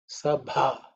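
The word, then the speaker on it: सभा: Sabha. So this bha is the fourth letter in the pavarga. So it has to be aspirated with the force.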